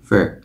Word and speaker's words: for: Ở đây, dạng rút gọn của từ "for" là "fuh".